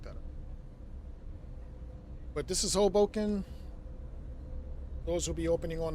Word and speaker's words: Hoboken: It's Hoboken. Not Hoboken, not Hoboken, Hoboken.